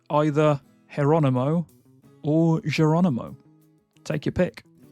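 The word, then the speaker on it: Jeronimo: But in Spanish, which is where this name typically comes from, the J is pronounced more like an H. So instead of Geronimo, it's actually more Geronimo.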